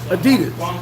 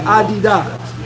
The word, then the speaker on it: Adidas: into, would be like Adidas. Because everybody didn't say Adidas. They said it like, they pronounced it like it looks Adidas.